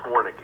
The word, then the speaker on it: Warnke: How is it pronounced? It is pronounced Warnke.